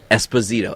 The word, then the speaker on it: Esposito: I can't say his name at all Giancarlo Esposito Esposito hey uh Skyler just broke down in